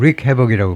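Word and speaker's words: wreak: 렉이 아니고 릭해라고 발음할 겁니다.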